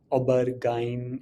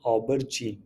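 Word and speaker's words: aubergine: इसे यूरोप में, जैसे यूरोपियन वर्ड है, तो इंडिया में इसे ऑबरजीन, ऑबरगाइन ऐसा मैंने सुना है, but that is नॉट the right way. The right pronunciation is ऑबरजीन। तो हम बैंगन के पेड़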